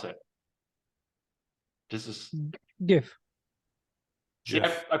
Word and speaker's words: GIF: it's GIF I said the guy who designed it says it's pronounced like the peanut butter but most people pronounce